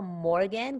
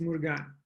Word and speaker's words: Murgan: about your name first is it morgan because it's spelled murgan yes it's murgan and murgan in fact